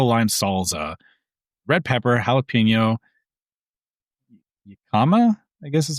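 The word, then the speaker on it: jícama: A yellowtail ceviche, yellowtail tossed in mango lime salsa, red pepper, jalapeno, jicama, I guess is how you say that. Jicama, I believe. Yes, jicama.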